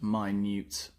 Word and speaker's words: minute: in my newt detail spelt the same as minutes pronounced my newt uh yeah okay earth's